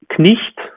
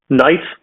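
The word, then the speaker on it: knight: In Middle English, we would have knicht, right? And we also have it still in the orthography, but nowadays it is pronounced without the initial k sound, right? So night, knee, no, gnome, and so forth, without the k or g sound in the beginning.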